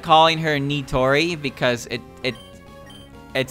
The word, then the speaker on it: Nitori: way their name sounds when i use proper pronunciation although i like kawashiro but i don't like calling her nitori because it it it sounds weird nitori i like calling her natori because natori sounds more correct in my um